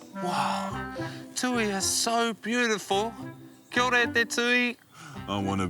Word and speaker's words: kia ora: Anyway, Tui said, kia ora, and this is how you say kia ora back.